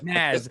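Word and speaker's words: Nazz: know you had that psychedelic band, is it Nas or Naz? How do you pronounce it? The Nas, yeah. Naz.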